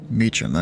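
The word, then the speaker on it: Meacham: Well, number 3410 Whiskey, contact Fort Worth Mechum Tower. Um, apologize. Contact Fort Meum Tower 18.3 Whiskey. Meetum. Okay, that's that's how you pronounce it.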